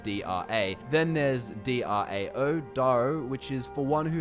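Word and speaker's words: Drao: It is spelt D-R-A. Then there's D-R-A-O, Daro, which is for one who has achieved excellence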